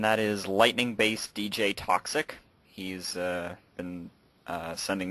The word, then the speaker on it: Toczik: name again lightning based DJ toxic and that is to CZ i k wow that's a long